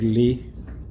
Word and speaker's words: Leigh: sports dtm speaking with greg lee that's what's pronounced right yeah amelia greg you